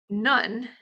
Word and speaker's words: Nun: None, spelled Nun, means nothing, but some